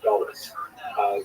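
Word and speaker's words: גלות: connotation, but the word exile in Hebrew, galut, or in a Ashkenazi pronunciation, galus.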